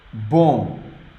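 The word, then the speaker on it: bom: b let's write it boom it's just one syllable here boom now when the word ends with om M the sound is oh sounds a bit weird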